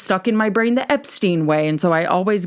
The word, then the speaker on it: Epstein: So Brian's last name is pronounced Epstein, not Epstein. publicly, as in the press, particularly in the US. Brian's last name was pronounced as Epstein due to understanding that to be the more common American pronunciation.